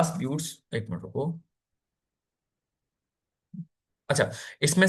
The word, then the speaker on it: buttes: तो देखो, एक स्पेलिंग गलत कर दी मैंने इसकी, BUTTES है, ठीक है। मिसास होता है और ब्यूट्स होता है।